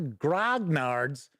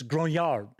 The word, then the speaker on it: grognard: a lot of the Grog nards which is not how it's pronounced by the way I noticed a lot of people say grognard that's why I'm saying grognard it's gronyard somebody busted my chaps